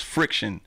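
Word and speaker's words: Phrikshun: Oh, and then my original DJ name was Friction. Mm-hmm. And it was spelled like P-H-R-I-K-S-H-U-N, mm-hmm.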